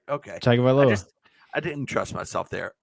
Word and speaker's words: Tagovailoa: Tua Tagovailoa. Tagovailoa. Yeah. So I was saying it right. Okay. Tagovailoa.